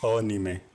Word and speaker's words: anime: तो मैंने सोचा बस ऐसे बता दूँ, इसलिए मैंने बता दिया आपको कि इट्स नॉट एनिमे, इट्स अनीमे, जो उसका ऑफिशियल प्रोनाउंसिएशन है।